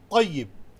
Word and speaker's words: طيب: However, tayyib, making T as bold and heavy, makes the correct pronunciation.